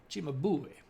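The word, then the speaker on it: Cimabue: this guy guy named Chima bu Chima bu if I'm saying it in the the old Italian way you got to put the accent on the boo Chima boy who is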